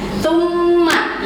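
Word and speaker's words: ثُمَّ: Tsumma, ingat ketika kita bertemu dengan mim bertasydid maka harus ditahan, digunakan. Tsumma gitu ya cara bacanya.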